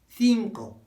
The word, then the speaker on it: cinco: That's cinco, cinco, not cinco, not cinco. They won't understand. It's cinco. Wide mouth frog.